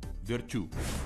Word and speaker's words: Верчу: В этом она была примером даже для олимпийской чемпионки Тессы Верчу, у которой абсолютно фанатичное отношение к работе. Кстати, именно так правильно произносить ее фамилию с ударением на последний слог – Верчу.